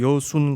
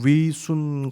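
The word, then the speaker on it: 뤼순: 그리고 체포되어서 만주의 여순 감옥, 본토 발음으로 리순 감옥에서 옥살이를 하는 동안 57점 이상의 한문 휘호를 남겼습니다.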